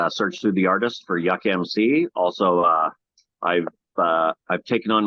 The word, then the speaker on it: Yukmc: going to have to remind me how to pronounce the middle part. It's Yukon Yuck. Well, just call you Yuck. How's that? Yukmc. Yukmc.